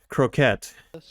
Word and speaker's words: croquette: Croquettes, with an emphasis on the second syllable.